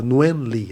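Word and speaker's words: Nguyên Lê: nigun l que é o nome dele a gente fala nuen le a pronúncia ele era o guitara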